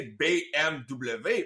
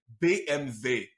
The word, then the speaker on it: BMW: peu rouillé mais voilà donc vu que c'est de l'allemand faudrait pas le prononcer BMW parce que c'est pas du français faudrait le prononcer BMV ah c'est comme ça